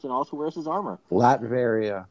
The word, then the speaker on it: Latveria: also wears his armor latveria new latveria it sounds like latrine like if i did